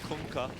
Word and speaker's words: Kunkka: Did you hear the way Tide yelled it? That's how you pronounce it. You're welcome. Kunkka.